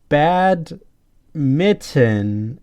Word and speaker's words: badminton: a DM i ttom even though it it kind of sounds like bad mitten as the thing you